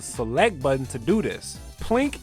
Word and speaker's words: plink: you could even use the select button to do this plink is pronounced as one syllable but it is a